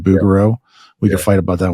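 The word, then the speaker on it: Bouguereau: know you mentioned uh I pronounce it bero you said bugaro we can fight about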